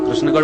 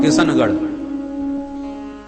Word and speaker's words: कृष्णगढ़: भारत का प्रसिद्ध शहर है कृष्णगढ़, तो कहां कृष्णगढ़ कोई बोल ही नहीं पाता, किशनगढ़।